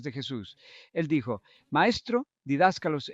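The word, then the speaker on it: διδάσκαλος: Él dijo, Maestro, didáscalos en griego, y estoy usando la pronunciación griega moderna.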